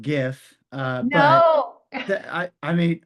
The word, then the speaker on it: GIF: Um so Stephanie, it's pronounced GIF.